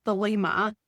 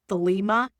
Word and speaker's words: Thelema: I'm probably really mispronouncing that. Thelema, I think is how it's pronounced, Thelema, with the same kind of manic, all-consuming intensity he brought to literally everything.